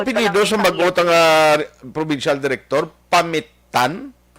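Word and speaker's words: Pamittan: Ang spelling P-A-M-I-T-T-A-N pero kay Ilocano mag-pronounce action art Pamitan. Gali ka? Amo na siya mag-pronounce. Yes. Pero kung kita lang yata magbasa ta Pamitan Pamitan. Pero kay Ilocano siya may diin kumbaga ang iyang Gusto tayo sakto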